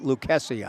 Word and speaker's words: Lucasi: any other lucases but this kid pronounces it lucasia I'm told so I take